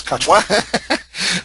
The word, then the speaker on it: Kochwar: Is it Kochwar? That's right. Yeah, it's Kochwar.